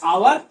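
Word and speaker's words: hour: में आते हैं हमारी, तब क्या होता है? आवर, honest. साउंड किसका आ रहा है?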